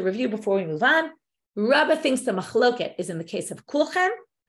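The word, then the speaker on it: רבא: Rava Amar, but Rava with an aleph, that's different Rabba with a hey, we pronounce it as Rabba.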